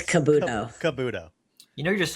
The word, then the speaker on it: Kabuto: How do you pronounce it? Kabuto or Kabudo? It's Kabudo.